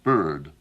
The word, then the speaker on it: bird: of the world is the vowels that Americans have in a word like bird, if you'll pardon my saying it as bird. Bird? I, of course, think the word should properly be pronounced as bird. Bird. Bird. Bird. Bird. Because this is a very rare vowel that occurs in less than 1% of all the languages of the world.